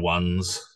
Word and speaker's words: Owen: Owen is probably the most one that's pronounced wrong throughout the boy category because it's spelt weird. Just, it's pronounced O-N. O-N. The E throws a lot of people off. Ashin. Ashin.